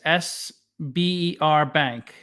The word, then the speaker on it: Sberbank: It's SBER Bank. Sberbank.